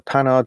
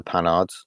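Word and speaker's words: Panhard: unfortunately fascinating cars the pan ads that's not how you pronounce it that's how as English pronounce it do you like the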